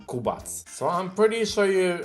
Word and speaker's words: Kubac: the username kmba into kubak or if you want to be more faithful to the pronunciation of my name you can use Polish accent which is going to be kubats so I'm pretty sure